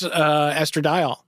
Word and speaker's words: estradiol: There was like a scientific thing in it, and someone was like, how do you pronounce this? I'm like, oh, it's estradiol.